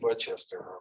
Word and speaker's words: Worcester: in Worcester, Massachusetts, and I finally figured out how to pronounce it. I think that's pretty close. When I drove to it once, I asked some locals on that because, especially for foreigners, it's really Worcester.